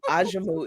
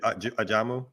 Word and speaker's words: Ajamu: ghettoization of of it African name aimu is actually how it's supposed to be pronounced and US lazy tonged American Negroes made it ajamu should literally the first time I've ever ever in my life heard it pronounced that way and and be